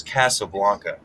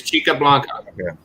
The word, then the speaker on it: Chica Blanca: called chick up jesus casablanca no it's chi it's chica blanca oh my goodness i